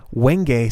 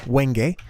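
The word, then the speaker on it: Wenge: seoa saplings and some weng saplings that's how you pronounce that apparently not not Wen like it looks but weng uh some sort of native African word um let's see if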